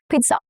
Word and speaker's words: pizza: Pepperoni, pizza. Double Z in Italian is pronounced as t sound, okay? It has a little t sound, not z. Pizza.